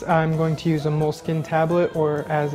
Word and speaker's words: Moleskine: in this case i'm going to use a moleskin tablet or as it's technically apparently pronounced moleskina uh an exacto knife some glue and of